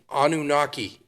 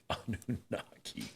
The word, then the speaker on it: Anunnaki: Tell me anakaki. Anunnaki. Yep. Anu. How do you spell that?